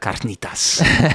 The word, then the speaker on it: carnitas: That like a Spanish accent. You gotta say it like that. Carnitas.